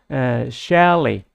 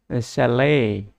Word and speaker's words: chalet: it is pronounced as shally it is in British English it is pronounced shally in American English it is pronounced as chalet এইটো noun হিচাপে মাত্ৰ